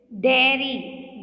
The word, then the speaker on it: dairy: Again, a common mistake what you all make, dairy and diary. Here, see, the pronunciation is not same, but some spell it in the same way. See, it's dairy.